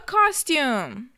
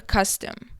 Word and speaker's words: costume: A costume. Okay, now a costume, it is not a custom. So please don't pronounce it like custom, because a custom is like a tradition.